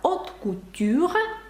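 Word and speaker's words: haute couture: це пишеться французькою мовою ви бачите сполучення а ю яке знову ж таки читається як О І ви знаєте що аш не вимовляється ви знаєте що наприкінці не вимовляється і виходить от Ну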